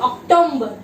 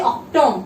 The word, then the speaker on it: October: October. You should not say Octom. It is October, okay.